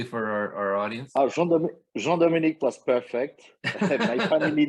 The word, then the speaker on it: Jean-Dominique: Can you pronounce it correctly for our audience? Jean-Dominique was perfect.